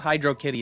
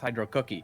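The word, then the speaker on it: Hydrocity: Hydro Cookie? More like Hydro Kitty. No, it's not Hydro Kitty, it's Hydro Cookie.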